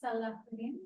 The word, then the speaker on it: Salauddin: So when Salauddin, is that how you say it?